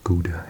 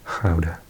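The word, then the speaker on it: Gouda: miss um this cheese I think I used to pronounce it guda in English howder uh ham is there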